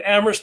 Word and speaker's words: Amherst: I'm in Amherst, Massachusetts, where only the H is silent, in beautiful Western Massachusetts.